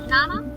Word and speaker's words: Name: Nama. Nama simply. Why? Because E is pronounced as A.